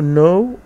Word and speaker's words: gnaw: الفعل ده هو no، ما بنطقش الجي، معناه يقرض او يقضم.